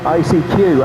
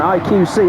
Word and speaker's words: IQC: Ninki in fifth, Robert Racing in sixth, Stealth in seventh, ICQ having a good look. I've said it wrong again. IQC, isn't it? I keep getting it wrong.